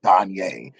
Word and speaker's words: Donja: I was like, hey, I really love the name Danye, because it's spelled Donja, but I was like, but it's so beautiful how you pronounce it.